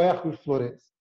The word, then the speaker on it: Hercule Florence: começar perguntando para você como é que fala é erros lourenço ou hércules florence e a gente tenta lá na verdade do abrasileirada nesse nome dele que muita gente que acha muito difícil a pronúncia né aqui uma uma grande do ventre hércules florence welch colina a gente resolveu adotar o mesmo nome que o bóris kossoy coloca no livro hércules uma vez na verdade